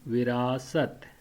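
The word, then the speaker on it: وراثت: Okay, so the whole word would be virasat.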